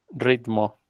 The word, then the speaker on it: ritmo: sin agregarla ahí invisible la palabra ritmo ritmo ritmo tenemos que agregar una y después de la t y último y y